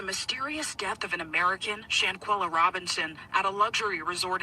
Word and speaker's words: Shanquella: And turning to Mexico, where Officials have yet to release new details surrounding the death of Shanquella Robinson.